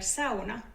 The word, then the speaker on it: sauna: a brief moment for Sona Education First of all how do we pronounce this word let's ask some Finnish people are you pronouncing the word sauna correctly in Finnish it is sauna not Sona or sauna in Finnish